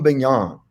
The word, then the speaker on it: Bignon: Calvinistic philosopher named Guillaume Bingham right it's kind of hard to say it rhymes with filet mignon that helps me you